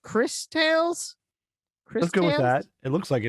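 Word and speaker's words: Cris Tales: I know that is it pronounced Chris Tales? Let's go with that. It looks like it is. Christ like- Ales, I believe it's pronounced. It's pronounced Christ Ales.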